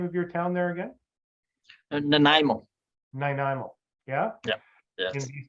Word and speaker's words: Nanaimo: How do you pronounce the name of your town there again? Nanaimo.